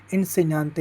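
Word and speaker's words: insegnante: आप देखेंगे भाई कि जी एन ए ये नए कैसे हो गया जी एन का होता है नए उच्चारण उच्चारण हम आगे पढ़ेंगे अभी हम आदत बना रहे हैं मीनिंग पढ़ने की इनसे न्याते यानी शिक्षक जो इससे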